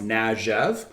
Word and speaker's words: Kniaziew: So we wanted to play off that as well, and it's something that it's pronounced Najev.